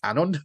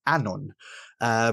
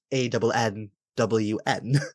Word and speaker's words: Annwn: And I've done that since I was about 16, and I got told by Christopher Hughes that it's Annwfn, not Annwn. And before that, I always pronounced it Annwn, because that's the way it's spelt nowadays.